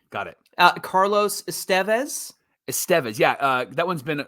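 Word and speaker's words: Estévez: Estevez is Estevez. You want the emphasis there. Yes. On that syllable, right?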